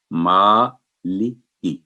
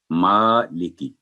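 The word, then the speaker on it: مٰلِكِ: تلفظ۔ آگے چلتے ہیں۔ یہ ہے میم پر کھڑی زبر ہے تو یہ آواز 2 سیکنڈ لمبی کر کے مالکی، مالکی، یعنی ماں کی آواز چھوٹی نہ ہو اور لی اور کی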